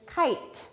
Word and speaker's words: kite: consonant plus an e that e makes the i say its name say its name and then that e is silent so that word is kite this word is hope